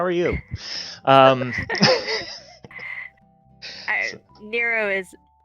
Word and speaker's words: Nero: Nero is, Zero rhymes with Nero.